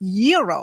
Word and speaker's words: gyro: Gyros I order the gyro Supreme suddenly the lady behind me chimes in it's pronounced yearo then the fellow behind her says it's a gyro I turn my back